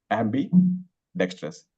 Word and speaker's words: ambidextrous: how to pronounce it Ambi dextrous after Ambi Ambi is one and it it is very similar to ambitious so Ambi ambidextrous so the meaning of